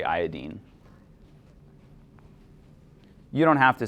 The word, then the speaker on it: iodine: Something that somebody pointed out to me, fluorine, chlorine, bromine, the end we're saying ene. How would you pronounce this fourth one? A lot of people say iodine. That doesn't fit with the way that we pronounce the other ones, so I say iodine.